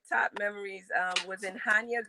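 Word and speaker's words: Chania: memories um was in hanya greece it's spelled c-h-a-n-i-a hanya greece and i remember my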